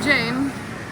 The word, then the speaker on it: Jane: I will pronounce her name Jane because she likes it that way she was born here